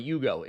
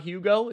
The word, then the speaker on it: Hugo: By the way, Yugo, it's not Hugo. It's not The H is silent.